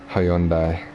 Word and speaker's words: Hyundai: I'm watching too much F1 Hyundai is how they say it.